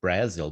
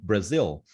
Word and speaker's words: Brazil: I don't know why I would say Brazil, but that was the way I pronounced. Then Mm-hmm. I learned Brazil.